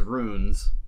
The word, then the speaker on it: ruins: That's a good flip because some people pronounce ruins as runes. They don't hit the I, and it's, you know, a regional dialect pronunciation.